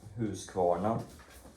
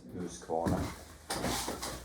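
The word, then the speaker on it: Husqvarna: for a partner chainsaw partners owned by who's who's corner which is how you're supposed to pronounce it whose corner but usually americans and well pretty much anybody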